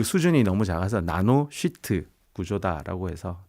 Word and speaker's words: sheet: SHEET 나노 발음 잘하셔야 됩니다. 예. 욕하시면 안 되고 그 수준이 너무 작아서 나노 쉬트 구조다라고 해서 뭐 나노시트 FET 이렇게 말씀하시는 분도 있습니다.